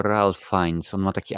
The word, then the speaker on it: Ralph Fiennes: Nie Ray, tylko Ralph Fiennes.